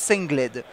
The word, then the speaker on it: Sengled: qui s'appelle s Gold ou sled il le prononce sled et je voulais simplement vous montrer rapidement quelques